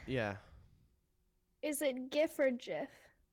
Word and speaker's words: GIF: JIF. Let me see. Let's see. It's on BBC News. The Oxford English Dictionary accepts both pronunciations. He said they are wrong. It's a soft G, pronounced GIF. End of story.